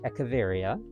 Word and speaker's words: Echeveria: I decided to name it after the succulent, I believe it's pronounced Echeveria.